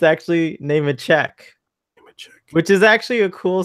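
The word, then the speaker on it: Nemecek: I follow Larry Namasek, who we've been calling Larry Namasek all this time.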